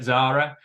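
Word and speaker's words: Tzara: from for Zara um we get lots of odd pronunciations as you can imagine with a TZ on there as well in Sheffield it is to Zara however we managed to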